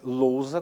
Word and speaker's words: lousa: palavras aí o losar agente pronuncia a palavra é lousa com a letra z e também aqui você